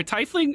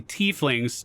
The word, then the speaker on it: tiefling: mortal looks like are tiefling or excuse me t flings t fling answer t flings t flings okay all right we all know now i know how to say it are they very vain